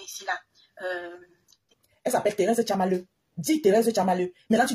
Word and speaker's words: Tchamaleu: Tu dis Thérèse Tchama for you. Tchama for you, c'est son nom. Hein? For you, c'est pas son nom. Elle s'appelle pas Thérèse Tchama for you. Elle s'appelle Thérèse Tchamaleu. Prononce Thérèse Tchamaleu.